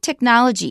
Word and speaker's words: technology: Watch the word ch is a c sound.